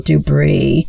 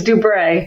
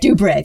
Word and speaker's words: DuBre: everything for 19-year-old Daryl Dubris. And is that how you pronounce it, Susan? I meant to ask you before that about that as well. No, no, it's uh it's it's Dubra. Dubre.